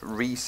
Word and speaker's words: Rhys: on YouTube messenger and he did actually tell me this pronounce Rhys and so sorry that I keep saying rice and if I say